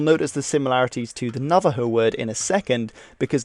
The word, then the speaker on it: Navajo: and of course in in spanish it should be pronounced navajo but a lot of